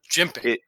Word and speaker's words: jimping: Jimping.